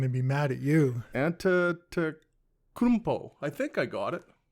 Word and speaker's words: Antetokounmpo: So you can pronounce the freak's last name. Antetokounmpo.